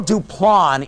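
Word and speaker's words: Duplan: Duplon is the correct way to pronounce his name. Well, we pronounced it the Duplin Building.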